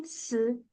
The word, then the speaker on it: 字: 名字名字字 That's the Z.